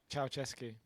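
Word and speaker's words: Ceaușescu: But this guy, Nikolai, how do you pronounce his last name? Ceausescu.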